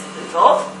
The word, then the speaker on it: Lviv: And this was happening in Kiev, in Lviv, which is western Ukraine, and Russians and Polish people always pronounced Lviv as Lvov, that's the same city, Lviv is in Ukrainian.